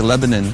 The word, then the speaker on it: Lebanon: Friday where are we it's spelled Lebanon but here they say Lebanon Tennessee hey Sammy a